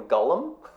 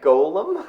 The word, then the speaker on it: golem: found it funny that several actors mispronounced it naming him ghullam instead of a golem yeah so I did